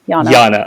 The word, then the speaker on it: Janna: Is it Yana? Is it Janna? It's Janna. Yana, okay. It's spelled with a J, but it's pronounced Janna.